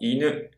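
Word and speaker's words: 犬: If it seems to much, just memorize the sound of i-NU (dog) and NE-ko (cat) The pitch accent of iNU (dog) is Low High. and NEko is the opposite, it's HIgh Low.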